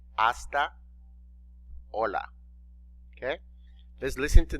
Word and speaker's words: hasta: 2 you remember that the letter h is silent it's mute in other words it doesn't have a sound okay it's just there